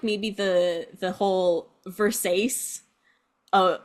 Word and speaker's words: Versace: it's a vers it's Versace what Versace it's pronounced Versace oh you know and then also moving on